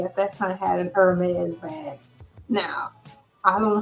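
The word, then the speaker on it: Hermès: And Hermes, they'll say it like, Hermes.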